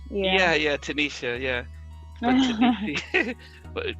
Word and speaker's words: Tanisia: I think people want to maybe Tania or Tanise, or so I can imagine how that could be. Yeah, but Tanisha with an H. Yeah, Tanisha.